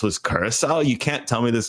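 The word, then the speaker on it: Curaçao: that the one country he couldn't pronounce was Curacao. You can't tell me this guy hasn't had a blue Curacao on a beach somewhere in Fort Lauderdale. And he calls it a blue Caraco.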